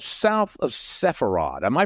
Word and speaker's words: Sepharad: your new book your book called south of sepharad am I pronouncing that properly sepharad that's correct okay south of sepharad tell us